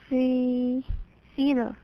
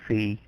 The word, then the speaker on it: feather: Feather. Not fee. Feather. Feather.